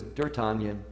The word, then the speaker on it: D'Artagnan: Who is D'Artagnan? That's the way it's pronounced.